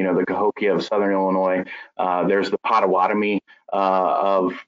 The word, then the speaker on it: Illinois: you know we talked about the s being silent in illinois that french uh that french origin illinois um that lasalle was